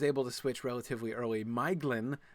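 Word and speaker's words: Maeglin: Miglin uh the elf who uh betrays Gondolind was much harder. I still will sometimes slip and say Mlin which is how I always pronounced that.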